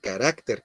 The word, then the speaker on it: carácter: debe de hacer y se debe decir carácter con acento en la a aunque no sé ya